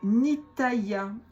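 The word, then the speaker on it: Nithaiah: C'est Nitaya. N I t h a I a h. Pas facile à prononcer.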